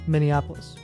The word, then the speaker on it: Minneapolis: Indianapolis say it again Minneapolis say it again Minneapolis now you're saying it right yeah what I